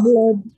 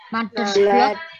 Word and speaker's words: blood: Blood. Mother's Blood. Yes, mother's blood. Ya, darah, lewat darah ya. Oke Richard. Nah, Yume. Nah, ini dari darah, blood ya bacanya, bukan blood.